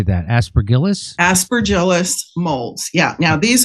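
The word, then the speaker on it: Aspergillus: Aspergillis.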